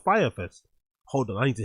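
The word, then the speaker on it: Fyre Fest: He pronounces it Fry Fest and not Fire Fest.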